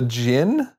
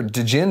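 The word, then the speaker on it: Jinn: of dust now the is it Jin or dein or how do you say that it's just a Jin dude Jin okay you're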